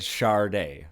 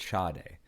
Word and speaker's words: Sade: No R, but Sade.